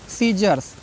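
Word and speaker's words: scissors: फिर सीजर्स, SC आया है ना, साइलेंट है।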